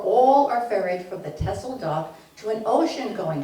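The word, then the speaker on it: Texel: says with X that in Dutch you don't pronounce your X as we do so it's pronounced as s so tessel I magnified a portion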